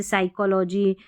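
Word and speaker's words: psychology: देखिए [अचानक ज़ोर से सांस लेने की आवाज़] पी एस और पी एन से शुरू होने वाले कई शब्दों में पी साइलेंट होता है।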